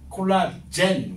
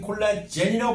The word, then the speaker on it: 콜라겐: 하나 더 적어 넣으세요지 콜라젠 원래는 콜라겐이라고 발음해야 되는데 콜라겐이라고 했던 거예요 어